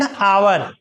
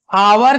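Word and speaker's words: hour: एन आवर देखो आवर का जो है ना लिखाता है एच ओ यू आर आवर मतलब क्या होता है घंटा लेकिन एच यहां साइलेंट है एच क्या है इसको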